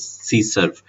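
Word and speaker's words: CSRF: So the cross-site request forgery basically sometime it's pronounced as CSERF.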